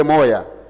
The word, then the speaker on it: moja: can hear somebody like how the Congolese say moja, instead of saying moja, they say moya, because they have the influence from Lingala, influence from other local languages.